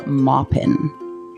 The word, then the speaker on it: Maupin: of the city by Armistead Maupin or Maupin actually is how you pronounce it I'm and I